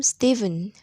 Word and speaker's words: Stephen: live live not in this in the name stephen ph is pronounced free listen and say these presses and